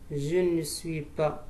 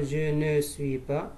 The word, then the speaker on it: je ne suis pas: Je ne suis pas. On ne dit pas je ne suis pas. Je ne suis pas. Tu es.